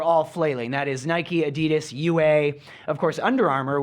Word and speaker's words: Adidas: But then you go to Adidas. I believe I'm pronouncing that right.